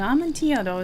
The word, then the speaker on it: amontillado: this correctly okay an amantiado is a type of wine is it Spanish or Italian it is Spanish so I'm right so it's probably a y sound I'm gonna check just